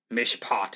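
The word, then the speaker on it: משפט: in hebrew that means mishpot mishpat is how it's pronounced in hebrew that means verdict or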